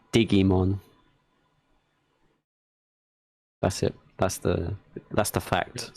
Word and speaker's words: Digimon: Oh, by the way, did you all, or did everyone know that Digimon in German is pronounced Digimon?